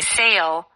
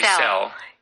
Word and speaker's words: sale: Oh, so instead of saying sale, like They'll say sell.